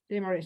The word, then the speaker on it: demurrage: So salvage, average, demurrage. Yes, like mirror.